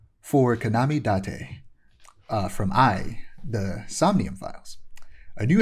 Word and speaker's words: AI: Konami Date uh from I the Somnium Files. A new entry in the I the Samium File series. Not AI even though that's how it looks like it's spelled.